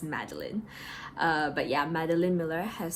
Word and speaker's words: Madeline Miller: look up an interview she pronounces her name is Madeline Miller so any time that I've said Miller so far I'm sorry for that it's Madeleine but yeah Madeline Miller